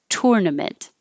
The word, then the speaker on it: tournament: you good examples so this ur is really an tournament that's hard for me tournament this one is what i say it's er tur and the vowel is like her so i couldn't put